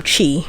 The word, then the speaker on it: CHI: maybe onto the next i didn't know chai made i don't oh chi rather that's the correct pronunciation i don't know if